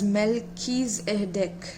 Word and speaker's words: Melchizedek: Melchizedek, pronounced as Melchizedek, is a high priest who is mentioned in the Bible's book of Genesis and many other sources too.